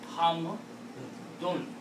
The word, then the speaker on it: hamdun: We pronounce hamd because we stop. And in Arabic, when you stop, then you don't pronounce this noon. But the word is not hamd. The actual word is hamdun. All the nouns are like that. Fa'alun. Kitabun. It's not kitab. Kitab is not a word.